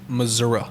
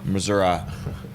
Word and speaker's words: Missouri: get on your boat and drive from it's pronounced Missouri Missouri you can drive your boat from our consultant